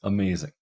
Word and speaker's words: amazing: on the first syllable what about amazing amazing that is stressed on the second syllable it's not amazing or amazing it's amazing uh what about repeatable